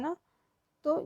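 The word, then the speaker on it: 넷: ए होता है ना, ये ए होता है ना, तो जब हम ए बोलते हैं, स के साथ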